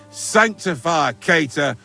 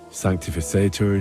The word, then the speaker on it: sanctificetur: You're saying it wrong. Listen. It goes like this. Pater Noster, qui es in celis, sanctificetur nomen tuum.